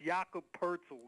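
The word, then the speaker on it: Jakob Pöltl: or excuse me poor Eddie my my apologies Jacob poeti yeah yeah I'm trying to tell you sometimes his name is hard to pronounce that's yakub Purcell you know no it doesn't look like that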